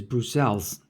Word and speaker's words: Bruxelles: Yeah, in English it's called Brussels, and in Dutch it's English. Everybody says Brussels, and in Dutch it's Brussels, and in French it's Bruxelles.